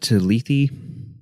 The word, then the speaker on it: Lethe: I think it is pronounced Lethe as far as I know.